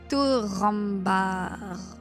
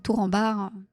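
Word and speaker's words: Turambar: tourambar ahilà tour r tu fais tour RAR voilà tu roules bien les a le U c'est un ou tourar c'est comme ça que tu dois le prononcer normalement mais tu dis tour en bar ça va aussi on comprendra de de qui tu parles tout ce que je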